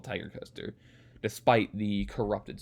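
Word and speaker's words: Tig'rr Coaster: day i got on tiger coaster this is pronounced tiger coaster that's how it was pronounced from the ride ops and the employees who were there so i now officially called tiger coaster despite the corrupted spelling and i was already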